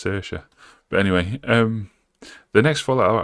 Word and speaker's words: Saoirse: I feel like it said Sorzy. That's not how you say that name, it's Saoirse.